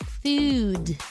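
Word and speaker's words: Fude: making quite a splash it's called food okay but it's it's spelled f-u-d-e a plant-based Gathering that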